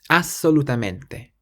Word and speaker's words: assolutamente: And when you see a double letter in Italian like this, you do have to emphasize it a little bit more. So it's assolutamente. Assolutamente.